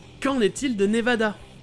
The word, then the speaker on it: Nevada: il le prononcera : avec le 1er se prononçant "A". C'est le "A" qu'on a en français et dans les langues latines comme l'espagnol d'où le mot "nevada" provient.